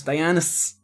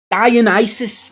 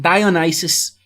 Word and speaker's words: Dionysus: Dionysus. No. Dionysus. That's it. It's actually got an ISIS to it. That's right. Dionysus.